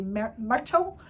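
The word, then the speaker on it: Myrtle: is kitty Kitty theii her real name is mytle which I just had that's a very American pronunciation of that word and the Scottish way would be Mertle and I can't be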